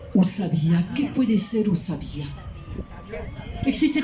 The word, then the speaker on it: o sabiá: Porque la U se pronuncia u. Usabía.